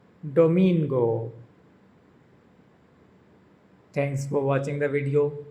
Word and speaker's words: domingo: the only exception being Sunday, which is pronounced with the emphasis on the second syllable.